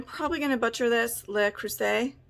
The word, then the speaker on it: Le Creuset: Le Creuset, like, because it's French, I believe. Le Creuset. Le Creuset. I think the T is silent.